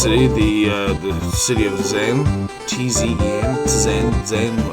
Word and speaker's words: Tzen: T-Z-E-N, Tzen. I usually just call it Zen and pronounce the T silently.